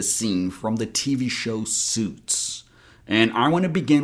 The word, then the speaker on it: Suits: I want you to remember that the letter I here is silent. So, we pronounce it as suits, not sweets.